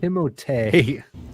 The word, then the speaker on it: Timothée: name's actually pronounced Timothée in French.